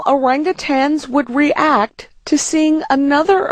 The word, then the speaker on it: orangutan: name of the ape many people wrongly say orangutang with a g at the end maybe because orangutans are